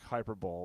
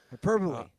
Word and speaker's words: hyperbole: yeah it looks like something you'd miss you mispronounced yeah yeah like hyper ball it's got a lot of love on social media hyperbole but we're hyped up you have to admit